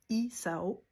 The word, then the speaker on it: Isao: des gens qui s'appellent Isao. OK? Ça, c'est souvent des hommes. Ça commence par la lettre I. OK? Donc, ça se dit Isao.